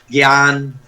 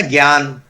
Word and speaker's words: ज्ञान: गलती है बोलने में, जैसे हम लोग बोल देते हैं ज्ञान, जा और होता है ना ज्ञान, तो वो वास्तव में आधा हलंत जा प्लस या, ये दोनों मिलके ज्या बनते हैं, उसका शुद्ध उच्चारण ज्या, हलंत जा।